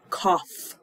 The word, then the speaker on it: cough: right she has a cough a cough a cough right so there's an F sound at the end a cough so a